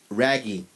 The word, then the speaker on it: Raggi: They have a female singer named Nana and the male vocalist named Raggy, which is spelled Raggi.